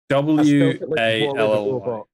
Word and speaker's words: Wally: W-A-L-L-Y.